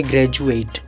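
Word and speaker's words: graduate: में ए वोवेल है, तो यहाँ पर डी का उच्चारण होगा झ, जैसे ग्रेजुएट।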